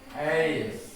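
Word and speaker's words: ice: Dibacanya apa? Ais. Ais. Bukan ise, bukan s ya.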